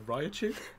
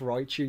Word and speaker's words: Raichu: A Raichu? Very close. What is it? Yeah, I mean, it's just Raichu, you're overpronouncing the I.